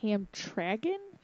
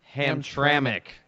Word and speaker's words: Hamtramck: You said it was called Hamtragon? Hamtramck. That took a while to figure out how to pronounce.